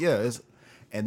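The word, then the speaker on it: Issa: show is our East it's ISA right it's pronounced ISA right yeah yeah ISA right from insecure it's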